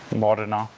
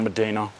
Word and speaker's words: Modena: Modena. Cool. It's not Medina. Medina, right? It's a Modena. That's the other one. You're f***ing Italian, bro. You should know that. Yeah, I mean, probably should, but... Modena's a city.